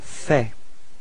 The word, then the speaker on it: fais: So first form for je, it's je fais. Okay, so final S is not pronounced. Je fais.